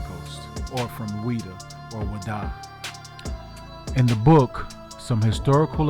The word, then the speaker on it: Ouida: The Dahomians had conquered the slave coast, and they set up shop in this town named Ouida, pronounced by the locals as Wada.